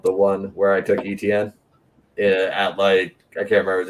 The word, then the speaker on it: Etienne: I had one other one that I was just scrolling the rankings, and Travis Etienne. I'm saying his name wrong, but the running back out of Clemson. Etienne. Yeah, Etienne.